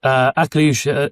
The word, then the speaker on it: Akliouche: So what is it that draws you towards Akliouche? And have I pronounced that right? Yes, Akliouche, you got that right.